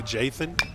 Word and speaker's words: Jathan: I think I would say Jathan. Yep. That's correct.